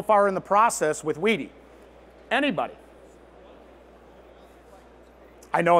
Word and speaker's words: wedi: that's last name and it is pronounced weedy not witty witty maybe maybe that's a good question yes wedi started in 1983.